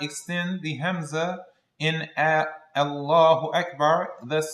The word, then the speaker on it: Akbar: One needs to make sure to pronounce the Hamza Allahu Akbar, the Akbar.